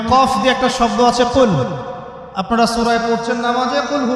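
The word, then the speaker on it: قُلْ: হচ্ছে বলুন কিন্তু কিন্তু আপনি যদি কফ এর মাখরাজটা ভুল করেন এবং কফ না বলে আপনি ছোট কাফ পড়েন এবং কুল না করে আপনি কুল পড়েন বলেন যে কুলহু আল্লাহু আহাদ তাহলে অর্থটা পরিবর্তন হবে অর্থ দাঁড়াবে খাও আল্লাহ এক এবং অদ্বিতীয় আমি কি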